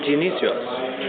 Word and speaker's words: Dionysios: name is Father Dionysios. Father Dionysios, like Dionysus. Or no? Yes, Is it different? Yes. Dionysus is more than a Raspian pronunciation. Okay. But Dionysios is the Greek pronunciation.